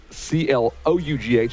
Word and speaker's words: Clough: Clough, C-L-O-U-G-H, although it's pronounced Clough.